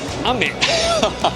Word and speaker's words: 雨: You say ame. How do you remember that? You say, oh man, it's raining.